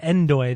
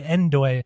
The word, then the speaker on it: Ndoye: I believe it's pronounced Doi. No, but they pronounce it Endoy. They say Endoy, but every time I just think No Doi.